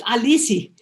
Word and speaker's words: Alice: people call me lisey i was raised in brazil where my name alice uh is pronounced alici and so i grew up having people call me just dropping the ah so that's where elise